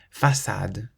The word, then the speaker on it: façade: Whenever you see the letter C with a cedilla, that little squiggle underneath it, you always pronounce it like an S, so a S sound.